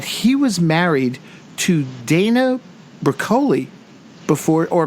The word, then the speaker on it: Broccoli: though was that he was married to Dana brocoli before or broccoli from what I'm hearing now is actually how you pronounce it before she met cubby oh wow